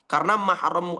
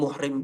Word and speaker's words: mahram: Maka pengucapan selama ini di Indonesia itu kurang tepat. Ya, belum muhrim, belum mahram, belum mahram. Itu tidak betul.